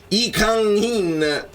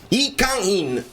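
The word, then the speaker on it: Lee Kang-in: Tra l'altro ho studiato la pronuncia di I Kang-in, non l'ho detto bene, come si dice? I Kang-in, perché Lee Kang non si dice Kang in Lee, non si dice Lee, si dice I, ma poi ne parleremo.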